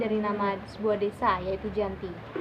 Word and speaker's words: Giyanti: nama sebuah desa yaitu Janti jika dalam pelafalan bahasa Belanda di terdengar Yanti namun jika dalam tulisan dibaca Giyanti Hai perjanjian ini dibuat